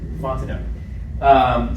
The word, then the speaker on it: Fontenot: I said, you say everything except for the last T. Fontenot.